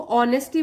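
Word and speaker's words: honesty: और बने रहे ऑनेस्टी और इसको ऑनेस्टी बोलेंगे इसमें h2 है वह साइलेंट होता है उसको हम नहीं प्रोनाउंस करते हैं तो यहां से शुरू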